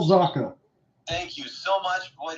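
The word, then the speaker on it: Zacha: get that right right is that Zucker I don't think it is it it's Pavel zaka thank you so much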